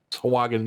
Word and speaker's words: Sahuagin: Sahagin? Sahagin, yeah. Sahagin. Oh, But that's how it's spelled.